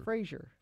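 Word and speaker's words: Frasier: Fraser.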